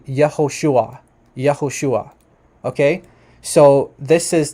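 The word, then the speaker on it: יהושע: do says here that the classical pronunciation which means like the preexilic name of of Yeshua is actually yahushua yahushua okay so this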